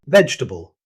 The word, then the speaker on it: vegetable: Vegetable. This word loses a syllable in natural speech. Instead of pronouncing every vowel, native speakers usually say vegetable, dropping the extra E after the G.